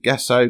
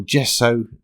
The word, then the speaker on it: gesso: two more coats of gesso cos or just so depending on how you pronounce it because the paint